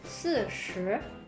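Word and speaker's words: 四十: Ya, lidahnya ya. 4, 4. Lidahnya nempel ke gigi depan. 4. Terus 10. 10. Lidahnya tekuk ke belakang. 40.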